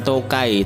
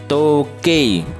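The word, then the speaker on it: 時計: ada kata toke ya enya harus jelas ya bukan Tokai tapi toke toke itu jam nya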